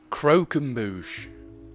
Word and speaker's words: croquembouche: roll up your sleeves and get stuck in croquembouche that's how you say it I just made